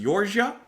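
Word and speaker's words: Jordsjø: george georgia hold on i actually did look up how to pronounce that uh from what i've heard it's jorge jorge we're going to listen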